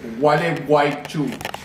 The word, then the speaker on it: Gualeguaychú: How do you pronounce this city again? This is gonna be the theme of this video. It's Gualeguaychú.